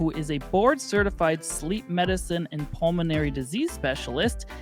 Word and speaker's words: Sliiip: It's spelled S-L, triple I, P, but pronounced sleep.